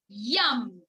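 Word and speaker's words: यं: So let us connect and chant the mantra YAM. Y-A-M, you can say, or Y-U-M.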